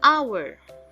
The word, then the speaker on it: hour: has other next silence these are the examples of silent h words an hour an honest boy and hair and a although it starts with heish for all these words but remember we are focusing on the sound so an hour and